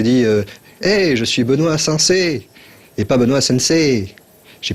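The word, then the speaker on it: 先生: hey, je suis Benoît Sensei et pas Benoît Sensei. J'ai pas dit Benoît Sensei, j'ai dit Benoît Sensei. Parce qu'en fait, le I prolonge le E, Sensei.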